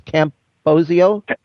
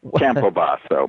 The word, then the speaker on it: Campobasso: of your last name it's Camp posio no Campo so if you stay with an Italian flare you'll never forget to go Campo or Camp baso but if you remember